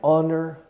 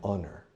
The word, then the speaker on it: honor: For example, it's an honor for me to be here. An honor. Honor es un honor. Honor starts with an H. That's a consonant. But I say an because the H is silent.